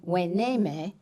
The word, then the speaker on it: Hueneme: Hueneme, spelled with an H and U to make the W sound. The story goes that when the Spanish came and met the Chumash, they heard the name Hueneme and wanted to record it.